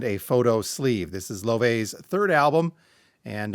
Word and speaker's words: Laufey: I've been saying Lafy and that is incorrect. Ly is how Google tells me to pronounce this. Brand new stuff from Lov.